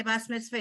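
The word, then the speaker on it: בת מצווה: It's wrong if you say Bas Mitzvah. It just shows your age or shows how you were trained. It's not wrong.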